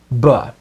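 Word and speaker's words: בְּ: Our first preposition is the one-letter prefix spelled with the letter bet and pronounced ba.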